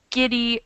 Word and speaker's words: giddy: to this rule so it's begin with a hard G giddy with a hard G